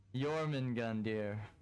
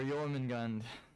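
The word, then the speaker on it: Jörmungandr: Jormungand, or Jormungand. Right? The R is silent.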